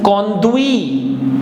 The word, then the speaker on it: conduit: Ui gives ui sound, so it becomes conduit, conduit.